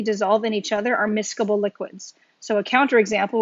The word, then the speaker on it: miscible: so another term miscobol so this term is pronounced miscable but it's basically kind of like mix able